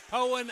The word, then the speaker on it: Poyen: It's Poyen.